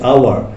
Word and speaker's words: hour: বলছি অনেস্ট, আমরা বলছি আওয়ার। তো এইসের উচ্চারণ কিন্তু হওয়ার মতো হয় নাই, এই জন্য তার পূর্বে আমাদের কি বসবে? এন বসবে।